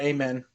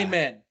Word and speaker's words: Amen: yeah, It's just yeah, amen. amen. Amen. Like Yeah, so it's like it's still the instead of a, but the emphasis men. is on the second syllable, not the first.